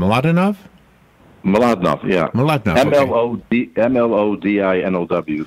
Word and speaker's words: Mlodinow: do you say your name a lot enough Malad not yeah the mlo di nlw for those who